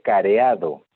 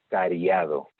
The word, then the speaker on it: cariado: Tiene un diente careado. Eso está mal, porque esto viene de caries. Entonces, en lugar de careado, esto es cariado.